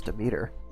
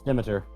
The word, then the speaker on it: Demeter: Shit, that's how that's pronounced? I thought it was Demeter. No, it's Demeter.